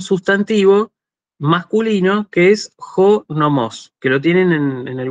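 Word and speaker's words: νόμος: Pero si yo digo jo nomos, con el acento en la primera omicron, significa la ley, ¿sí?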